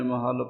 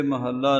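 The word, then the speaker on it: ਮਹਲ: महल पद रख्या है थे महल्ला नहीं पढ़ना जिव ग्यानी जी ने महल उच्चारण कीता है इसे तरह ही महल ही पढ़ना हा जीी महल भी नहीं कहना इस पाठ न गलत भी नहीं समझना महल पाठ थे शुद्ध है जिव जनी जी ने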